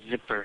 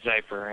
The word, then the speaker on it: Zyper: This is Zyper, spelled with a Z, like Zyper. Everyone calls me Zipper, so it's actually Zyper.